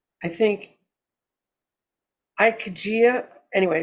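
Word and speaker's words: ikigai: for it in Japanese it's called I think ikejia anyway it's i-k-i-g-a-i I don't speak Japanese but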